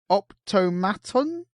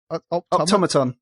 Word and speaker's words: automaton: I was tweeted by the Optomaton. Yes, you said it wrong. Yes, he can fuck himself. How do you say it? Automaton.